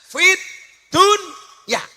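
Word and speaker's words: فِي الدُّنْيَا: Padahal ingat, Rabbana atina fid dunya. Fid dunya itu sebenarnya bukan bacaan idhar, tapi idhom. Harusnya bacanya bagaimana? Fid dunya. Tapi ternyata oleh ulama disuruh membaca secara idhar. Jelas fit dunya.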